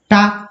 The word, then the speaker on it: talc: इसे हम क्या कहते हैं उच्चारण में? टाक कहते हैं, टाक, टाक कहते हैं। समझ में आ रही? इसमें एल क्या है? साइलेंट हो गया है।